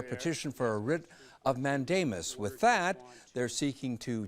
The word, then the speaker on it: mandamus: Today, the Illinois Attorney General and the special prosecutor in the Van Dyke case announced their petition for a writ of mandamus.